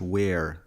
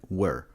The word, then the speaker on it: were: وزي ما شرحنا في الدرس اللي فات إن كلمة were دي ما بتتقالش where زي أين، لا دي بتتقال were.